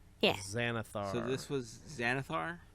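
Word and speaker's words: Xanathar: So this was Xanithar. X A N A T H A R. However you would pronounce that.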